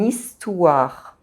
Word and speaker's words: histoire: H is silent in French, so the word histoire begins with a vowel sound, I. So, if these two words are together, they are pronounced this way, une histoire.